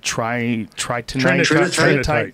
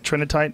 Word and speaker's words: Trinitite: Tri tritinite. Trinitite, that's how you say it.